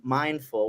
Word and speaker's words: Mind-Fool: And I wanted to do that intentionally because while it might sound like mindful, we're being mindful as we're speaking.